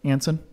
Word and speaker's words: Anson: thank you glad to be here did i pronounce that correct anson yes hansen without the age you know i